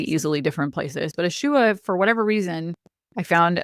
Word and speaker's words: Isua: And then Ishua, which is a harder to find crystal, but for whatever reason, I was really drawn to it. And it's spelled Isua.